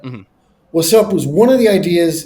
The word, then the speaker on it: Wassup: Or I'm not even saying it right. Wassup. Wassup. Wassup. You gotta get the deepness in there.